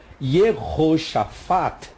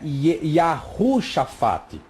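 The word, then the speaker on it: יהושפט: Aqui, ó, Yehoshafat. Então não é Yahushafat.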